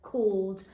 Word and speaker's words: called: in this bit is this a and l which is making an o sound if we segment today